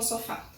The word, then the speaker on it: sofá: Qual a sílaba que a gente pronuncia com mais força, com mais intensidade? O fá. Sofá, sofá.